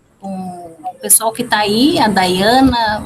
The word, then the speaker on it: Dayana: É Diana que se pronuncia? Tá correto? Dayana. Dayana. Eu tinha acertado e comecei a errar. Às vezes a gente começa certo e termina errando.